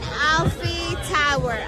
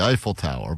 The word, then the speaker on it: Eiffel Tower: I You doubled and then tripled down on the pronunciation. She said eventually it'll be right. But it's the Eiffel Tower. But she said the Alfie Tower.